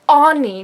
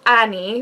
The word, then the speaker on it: Ani: It's Ani, not Annie, even though her name